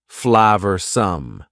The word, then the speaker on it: flavorsome: and full of flavor notice the pronunciation two schah sounds there Flav some the sauce proved incredibly